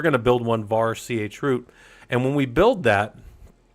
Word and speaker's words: chroot: And um or some people call it a sharut. I've always called it a chroot. I don't care how you say it. It's not a real word, so you can say it however you want.